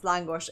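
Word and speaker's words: lángos: It's langosh. It's it's typed as langos, but yeah, you pronounce it as language.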